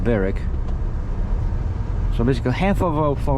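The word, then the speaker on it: Berwick: Yeah, it's spelled Burwick, but pronounced Beric.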